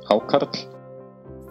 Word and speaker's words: Hákarl: I don't have very good Icelandic pronunciation, so here is an Icelander saying the word. Hákarl.